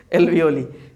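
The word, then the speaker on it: alveoli: शुद्ध प्रोनाउंसिएशन है एल्वियोली।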